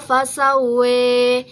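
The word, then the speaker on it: فسوّى: yaitu pada lafaz khalaqo fasawa. Nah, di situ ada imalah yang merubah bacaannya menjadi khalaqo fasawe.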